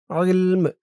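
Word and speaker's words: عِلْم: বিগাইরি বিগাইরি ইলম ইলম খেয়াল করুন উচ্চারণটা কেমন হয়? ইলম এই ত চিহ্ন হতে অক্ফ করার কারণে মিমের নিচে ২ জের তানবিন সাকিন হয়ে গেছে।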